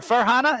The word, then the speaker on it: Farhana: it's bar Hannah oh ferrana farhana is that how you pronounce it yep far like Far Away Hannah like Hannah Montana far how to Montana